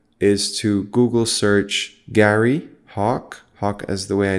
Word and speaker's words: Hawke: his name is Gary Hawk Hawk is spelled at its as it's pronounced but with an e at the end if you're curious about